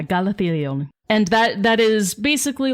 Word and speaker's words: Galathilion: And this one is named Galathilion. That's correct. Yeah. I had to read all the syllables. And yeah, Galathilion.